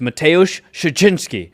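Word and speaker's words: Mateusz Szczeciński: onto our audience so whenever you see the SZ in a Polish word it's pronounced sh and when you see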